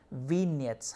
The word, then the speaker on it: vignette: marks for this so the answer is v net we said you know the g here is silent vignettes how vignettes offer you